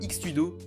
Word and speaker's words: X-Tudo: Le X-Tudo est brésilien, et le X dans le nom se prononce cheese, vient de l'approximation portugaise du mot anglais cheese, donc équivaut approximativement à fromage, tout cela étant une description précise.